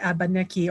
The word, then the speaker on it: Abenaki: At Odanak, there is this Musée de Abenaki, or Abenaki, actually, that's how you say it in Abenaki and in French.